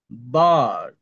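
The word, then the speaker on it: bird: তারপর অ বা আর সাউন্ড, এই যে এই রস্যটা, কিন্তু এই রটাও উচ্চারণ করবেন না, মানে একটু মনে হবে যে আপনি উচ্চারণ করছেন, কিন্তু আপনি উচ্চারণ করছেন না। যেমন বার্ড, বার্ড, বার্ড। একটা রেফ না, এটা একটা টান দিয়ে শিখছে। বার্ড, বার্ড, মনে হবে আমি আর উচ্চারণ করছি, র উচ্চারণ করছি, কিন্তু র হবে না।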